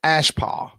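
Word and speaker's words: אַשְׁפָּה: Uh it first word is ashpa. Pronunciation is ashpa.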